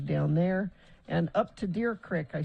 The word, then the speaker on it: Deer Creek: morning there's crashes down there and up to deer crick i said it right that time bill yeah